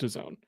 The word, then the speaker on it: DAZN: Well, if anything, we all learned something today in the fact that it is pronounced DAZN.